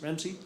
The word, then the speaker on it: RAMC: Pronounced RAMC, like the cook, Ramsey Gordon, who curses a lot, of course, so that's appropriate.